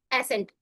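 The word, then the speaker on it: ascent: याद रखना है कि जब भी एस के बाद सी आता है तो सी साइलेंट होता है जैसे कि साइंस की स्पेलिंग होती है।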